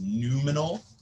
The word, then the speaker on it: noumenal: in itself, or the noumenal thing. By the way, this is pronounced noumenal, like new, and all. Not nominal.